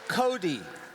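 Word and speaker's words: Kodee: the re-imagined mascot and it's called Cody and it's spelled k-o-d-e-e it's kind of like Java EE except code so next version will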